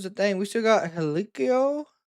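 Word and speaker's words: Hikuleo: We still got Helikio, how his name is pronounced, who has signed with WWE.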